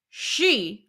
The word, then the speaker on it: Xi: told everybody at work it's pronounced she like she like she so don't